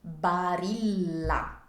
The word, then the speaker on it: Barilla: brands in Italy lava next one is Barilla Bara this was established in 1877 by Petro Barilla